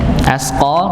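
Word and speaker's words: أَشْقَى: ya al-asq ya maka syin ini ya diucapkan pada lidah bagian tengah ya disebar udara ya menyebar as as begitu ya bukan dihemuskan ya tapi di disebar ya asqo Nah ini asqo qnya baru ditebalkan dan dibaca Dua dua harakat ya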